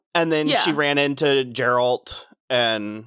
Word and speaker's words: Geralt: And then she ran into Geralt, and it's a hard G. It's Geralt. Okay, Geralt.